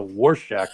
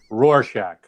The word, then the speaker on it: Rorschach: we want to see no it's not horshack from welcome back potter it's a war shack test if you at least i think that's what it's how it's pronounced is it war shack rorschach rorsch rorschach